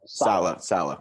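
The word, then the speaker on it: Saleh: It's Slay, right? Like you say his name? Salah.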